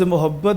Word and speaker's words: محبت: صاحب فرما رہے تھے, لفظ محبت جو ہے یہ زیادہ تر جو ہے نا یہ میم پر پیش کے ساتھ اتنا استعمال ہوا ہے کہ وہ اب لوگ اس کا جو درست تلفظ ہے نا, اردو تلفظ, اس کو قبول کرنے کو تیار ہی نہیں ہے. صحیح. ورنہ اگر ہم لغات میں جاتے ہیں نا تو وہاں پر جو ہے نا وہ میم پر زبر ہے, یعنی محبت ہے.